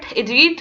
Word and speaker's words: read: ठीक है, सो इसमें सेकंड फॉर्म ऑफ वर्ब ये रीड के स्पेलिंग्स हैं लेकिन हमने इसको रेड पढ़ना है बिकॉज हमने पढ़ा है कि पास्ट इंडेफिनिट टेंस में second type of verb use होती है.